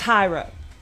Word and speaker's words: gyro: That's Yeah, but he's like the Greek thing name is not up for debate. That's been that way. It's Hiro. It's Hiro.